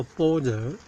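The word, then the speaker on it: 般若: 依般若，般若念作般若，是妙智慧的意思。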